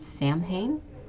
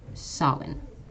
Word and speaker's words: Samhain: This one's actually a bit strange because this is, you might think this is pronounced Samhain. This is actually Samhain.